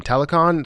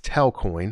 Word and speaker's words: Telcoin: go over was tell telecon somebody told me about this or sorry telecoin uh somebody told me about this um uh actually it's telcoin i don't know why i keep pronouncing it wrong but somebody told me